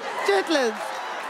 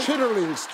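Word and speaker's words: chitterlings: the as well chitlins chitlins sorry I chitlings the e r is silent we don't we don't pronounce the E okay they just hitlin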